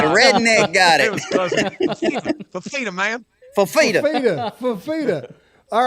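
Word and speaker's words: Fifita: I want to hear y'all pronounce the QB for Arizona's name. Is it Fafita? Fafita? Noah Fafita.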